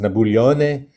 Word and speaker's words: Napoleone: for his weird name, which was in Corsican would have been pronounced Napoleone, and then the last name would have been Bonaparte.